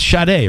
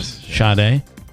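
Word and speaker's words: Sade: It's Shade, right? S A D E. Shade.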